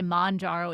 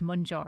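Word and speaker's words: Mounjaro: People say maro. It's mjaro.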